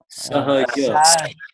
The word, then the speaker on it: Sahajanand: Sahajanand. Sahaja. In Gujarati, we don't, for the J, we don't say ha, we say ja. Sahaja.